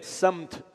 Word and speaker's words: سمت: سمت صحیح تلفظ یہ ہے, ایک ڈائریکشن ہے, ایک رخ ہے.